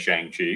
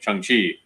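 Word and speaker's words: Shang-Chi: pronounce it right because i always said shang chi because i just read it but and i was having a real hard time like remembering not remembering but just like when i would say it would come out chiang chi until i saw the movie and i hear him pronounce it chung chi and it's like oh yeah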